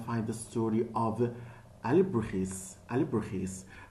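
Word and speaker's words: Alebrijes: Alibrujis, it has a Spanish pronunciation.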